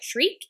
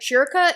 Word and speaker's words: Schierke: It sounds like shriek in English, but schierke in German, so I'm going with that one.